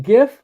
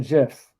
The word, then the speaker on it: GIF: If there's two ways to pronounce it, I just alternate. I'm Switzerland about that stuff. So I pronounce it both ways.